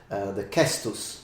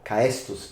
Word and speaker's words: caestus: An idea is, for example, the cestus or caestus, if you want to use the old Latin pronunciation, which was we can